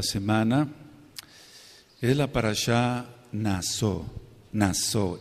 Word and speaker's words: Naso: es la parashá naso naso n a s de Sargento y la letra o y va con acento en la o digamos la acentuación nz